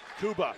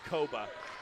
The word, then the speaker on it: Koba: 51 to 40 Kuba guarded by Hansen he attack the basket puts it up and in guess it's Koba I've been saying it wrong all night my apologies Kai Koba